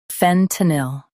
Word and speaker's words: fentanyl: fen t nil fentanyl Stress fen and keep t soft.